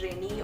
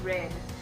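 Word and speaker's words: Reine: my name is pronounced it's not rainy or rna or rain it's red it's supposed to be red because it needs queen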